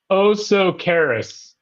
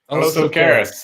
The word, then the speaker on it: Osocaris: Anyway, so Oscar on Instagram Live says it's pronounced Osocaris. Osocaris. Okay, there you go. Well, it's a good thing. Is that like you are so careless? No, Osocaris. Karis.